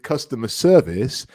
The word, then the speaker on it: customer service: connect it with customer service, the stress really goes in the second word.